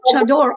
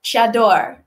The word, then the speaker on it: chador: Can I try saying the word? And let me know if I'm pronouncing it correctly. Chador. Chador. Chador. C-H-A-D-O-R. Chador. Chador. Yes, but also different country, they have a different way.